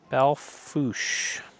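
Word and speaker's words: Belle Fourche: Belfouch means beautiful fork. See? It's pronounced that way.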